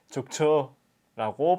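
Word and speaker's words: зөөгч: 자, 근데 사람을 불러야 돼요. 자, 불러야 되니까 끝을 길게 하셔야 되죠. 자, 그럼 어떻게 발음할까요? 죽추라고 발음을 하시면 돼요.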